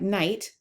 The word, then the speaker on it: knight: He strove to preserve the etymology in the spelling, so we see words like knight, like Sir Gawain and the Green Knight, with several silent letters because the Old English pronunciation was cynich.